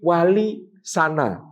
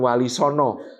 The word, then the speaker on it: Walisana: maka disebut Wali sana dulu bacanya memang walisana bukan Walisongo bahasa Jawa ada on-nya